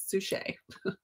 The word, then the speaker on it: Suchet: Like a sous chef, but Suchet.